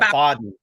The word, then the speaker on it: Baden: I think it's Baden. Am I saying it right? Or Yeah. Baden? Yeah, Baden. That might Baden.